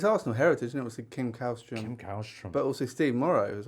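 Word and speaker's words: Källström: So I mean, it's Arsenal heritage, and obviously Kim Kallstrom, but also Steve Morrow as well. And just for anyone who's not across, Kim Kallstrom, or Kallstrom, as I think it was correctly pronounced, signed and was revealed to have a fractured spine.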